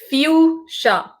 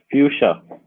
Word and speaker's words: Fuschia: And how do I pronounce Fuschia? It is Fuschia, right? It's Fuchsia. It's Fuchsia.